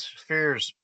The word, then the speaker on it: spheres: And his theory, an awful lot of spheres are seen with PH, okay? I don't pronounce it with an F because I'm from the north side of Dublin.